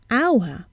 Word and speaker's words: hour: article un because we hear a vowel sound so we say an hour and not a hour another exception the use